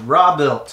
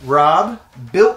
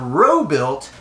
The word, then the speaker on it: Robuilt: the channel is called raw built okay my name is robert i call myself rob robert rob built things i build things rob built it not row built you know it's not